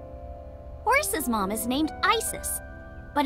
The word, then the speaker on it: Isis: see uh about asap horace's mom is named isis but in ancient egyptian it's pronounced closer to isa or asa hmm how do i